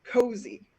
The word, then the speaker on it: KOSI: heard before that was called kosi which is pronounced cozy uh it is uh